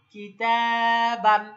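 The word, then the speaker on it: كِتَابًا: কিতাবান। আলিফটা হলো, আমরা মনে রাখবো, নো সাইন নো সাউন্ড, মানে এতে যেহেতু কোনো সাইন নাই, সুতরাং আমরা আলিফটা উচ্চারণ করব না, দুই জবরের উচ্চারণটাই করব।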